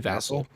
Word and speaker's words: Vasil: Vasil. Mike Vasil, I believe. Vassel. It's definitely Vassel. Anyway, don't even know how to pronounce the dude's name.